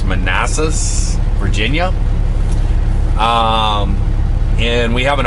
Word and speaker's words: Manassas: We have 971 miles to our destination of, I believe it's pronounced Manassas, Virginia.